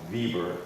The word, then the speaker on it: Weber: You see Pfeiffer, Peter Will, John Ziegler there, Burkhardt, Jacob Lind, Weber, which is probably pronounced Weber in German.